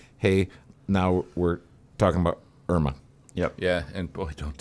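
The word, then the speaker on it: IRMAA: Actually, it's properly pronounced IRMA.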